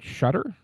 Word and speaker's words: Shutter: And this week I'm joined by the creator, Shudder. Am I pronouncing your last name correctly? That is correct. Yes.